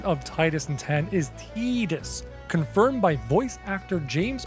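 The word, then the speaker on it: Tidus: The official pronunciation of Titus and 10 is Tedus confirmed by voice actor James Arnold Taylor and derived from the Okinawan word for sun ta. While many English speakers say Titus due to the water theme tide.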